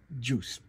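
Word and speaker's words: Guice: I always say Jackson I get his name wrong but I I've been told on the good authority that it's pronounced juice oh yeah I don't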